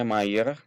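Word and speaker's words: Mijer: gambar Gubernur Jenderal pcjr atau Mayer ya kalau gitu dalam bahasa penuh pengucapan dalam bahasa Belandanya mayeur De ini adalah Gubernur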